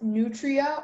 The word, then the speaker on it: nutria: The word can be pronounced nutria or nutria.